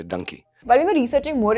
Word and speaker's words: Dunki: SRK even mentioned that the word donkey is called Dunki in Punjabi. It could be called donkey. It is donkey. The way a part of the country pronounces donkey in India is Dunki. The Punjabis, they say Dunki.